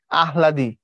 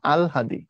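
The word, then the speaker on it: আহ্লাদি: আমি যেন এটা শিখি আমরা সবসময় বলতাম আহলাদ আহলাদি কিন্তু কথাটা আহলাদি না কথাটা আলহাদি অর্থাৎ আমরা লেখার সময় কেমনে লিখি আগে হ দেই তার নিচে ল দেই দিয়ে পড়ি পড়ার সময় আগে হ টা আনি পরে ল টা আনি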